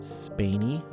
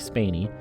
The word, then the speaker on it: Spaeny: pronounce this wrong but spainy I'm reading the pronunciation but I I think that's what it was Kaylee spainey a good looking young